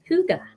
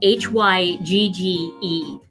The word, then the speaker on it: hygge: and a good book hygge so how did i come up or